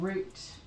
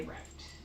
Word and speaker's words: route: Was it route or route? Cuz like we would say one thing and they would say another and they would look at us weird. It did not matter which way I said it, somebody would look at me weird. Oh, okay. So, because I do recall. I I think I said root and they would say route.